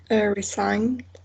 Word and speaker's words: resigned: So this one is not pronounced? No. Okay. What about the here? Resigned.